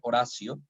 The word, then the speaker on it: oratio: La designación de la Eucaristía como Oratio, estamos hablando en latín, se escribe oratio, ¿verdad? Se pronuncia Horacio, ¿no?